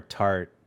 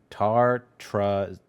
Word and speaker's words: tartrazine: that yellow 5 or tartarzine Sound it out. tartrazine There you go.